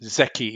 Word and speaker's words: Zeki: Is it right pronounced, Thomas? Yes, Zeki is the right pronunciation.